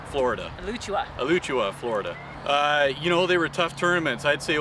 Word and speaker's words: Alachua: to the World Series in, how do you pronounce it? Alachua, Florida. Alachua, Florida.